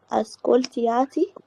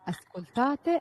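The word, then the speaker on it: ascoltate: ماشي، يبقى اسكولتو اسكولتي اسكولتا اسكولتيامو اسكولتياتي ياتي، بعدها اسكولتيانو. مفيش الياء دي، اسكولتاتي اسكولتانو على طول. أس... النطق تاني كده معلش. اسكولتاتي اسكولتاتي مفيش الاي، انت قلت اسكولتياتي، لا مفيش اي.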